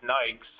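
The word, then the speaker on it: NAICS: then um something called NAIC uh that they pronounce Nikes um stands for Network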